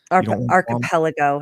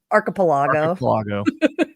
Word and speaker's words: archipelago: Archipelago. Archipelago. I'm putting the syllable in a different space. Okay, whatever. Or the accent mark. The emphasis on the wrong syllable.